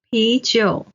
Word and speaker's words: 啤酒: 钱包钱包 Then, 啤酒 the beer. 啤 is the second tone. 酒 is the third tone.